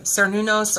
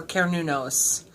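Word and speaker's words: Cernunnos: this is the one people pronounce differently sir new nose or care new nose they are Celtic ears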